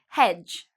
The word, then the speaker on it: hedge: Hedge, again, you see D and G together. We don't pronounce the D.